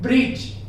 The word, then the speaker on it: bridge: से पहले डी मिले, किसी भी वर्ड में लेटर जी से पहले लेटर डी मिलता है तो आप वहां पर डी को प्रोनाउंसिएट मत करना कभी भी, भूल कर भी, उस तरीके से आपका इंग्लिश सुधर सकता है।